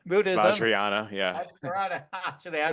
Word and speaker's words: Vajrayana: in numerous esoteric areas, including epigenetics, Tibetan, I pronounced this earlier today, Vajrayana, right? Buddhism. Vajrayana, yeah.